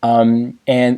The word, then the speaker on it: 安: So the character is pronounced an, it means peace.